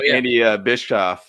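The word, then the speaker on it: Andy Bischoff: we got the cookie guy here right yeah Andy bishof is how you pronounce it yeah so so he's uh we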